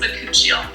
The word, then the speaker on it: bakuchiol: It's pronounced bakuchiol. And this is one of the main ingredients in our bakuchiol.